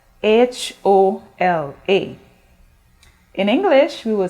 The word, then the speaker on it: hola: in spanish it's spelled h-o-l-a in english we will say h-e-l-l-o hello but in spanish you say hola do you notice the difference in pronunciation the h is silent in spanish words so we do not